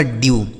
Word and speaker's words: dew: DEW, तो डी से हो गया आधा ड, EW का उच्चारण यू हो गया, यह लिखा गया आपका ड्यू।